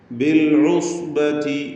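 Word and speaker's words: بالعصبة: ബിൽ ഉസ്ബതി, ബിൽ ഉസ്, ഐന് വ്യക്തമായി അതിൻ്റെ മഖ്റജിൽ നിന്ന് ഉച്ചരിക്കുക. സ്വാദ് തഫ്ഖീം ചെയ്യേണ്ട അക്ഷരമാണ്, ഇത്ബാഖിൻ്റെ അക്ഷരമാണ്. ബിൽ ഉസ്ബതി ഇസ്തിഅലാൻ്റെ ഹർഫ് 7 എണ്ണത്തിൽപ്പെട്ടതാണ്.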